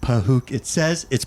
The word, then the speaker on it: Pahuk: And then eventually they put up Pahuk. It's pronounced Pahukit.